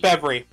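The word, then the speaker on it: Fevire: Fevery. Fevery. Okay, I wasn't sure how to pronounce that, but yes.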